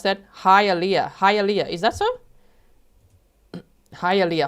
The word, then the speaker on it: Hialeah: Hialeah. Thank you so much. Look there. Hialeah.